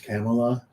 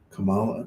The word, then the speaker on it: Kamala: up because I guess there's a proper way to pronounce I think it's camela because it's an Indian war is is name and uh people are saying Kamala Kamala and I don't know one Way's wrong one Way's right I got I got